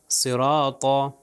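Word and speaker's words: صراط: मिसाल में है त अब पूरी मिसाल पढ़े तो हो जाएगा सिरात सिरात तो यह त जो है मोटा पढा जाएगा अब यहां पर दूसरी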